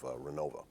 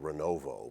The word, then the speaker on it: Renovo: think the vanilla the village of Renova which is actually spelled renovo but you don't want to pronounce it that way the study indicated there